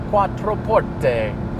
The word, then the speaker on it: Quattroporte: beautiful there's emotion attached you have to say it from the heart Quattroporte on Forte roll your R's and suddenly it sounds